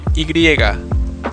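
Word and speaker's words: y griega: the letter Y in English has the name igriega this letter is pronounced exactly like e finally we have the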